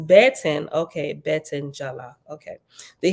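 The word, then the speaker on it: בֶּטֶן: page footnote okay the Hebrew word B10 b-e-t-e-n pronounced baton okay Bet Angela okay the Hebrew word Betten pronounced Betten is a feminine noun that can mean any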